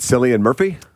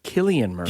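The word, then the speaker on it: Cillian Murphy: you this is the Oppenheimer star is it syan Murphy that's what I always said I thought it was San Murphy it is not is it I had to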